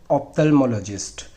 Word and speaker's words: ophthalmologist: इसको बोलते हैं ऑप्थेल्मोलॉजिस्ट। इसकी स्पेलिंग आपने ध्यान रखनी है।